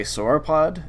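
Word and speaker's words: sauropod: In this case, um I haven't identified this fragment to anything closer than a soropod of the clay sorapota.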